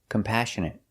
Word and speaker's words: compassionate: We put the stress on the second syllable.